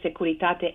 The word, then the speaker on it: Securitate: How did you pronounce that? Securitate? Securitate.